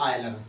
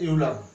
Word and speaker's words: Euler: एक हमारे गणितज्ञ हैं, उनका नाम है आयलर, ठीक है, हिंदी में इनको बोलते हैं आयलर जी, ठीक है, और वैसे लिखते हैं यूलर, स्पेलिंग है इसकी EULER, ये इनका यूलर कह सकते हैं, आयलर ये नाम है।